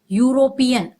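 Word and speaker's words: European: यहां दिख रहा है वावेल लेटर लेकिन कंसोनेंट साउंड का उच्चारण हो रहा है यूरोपियन इसलिए यहां पर क्या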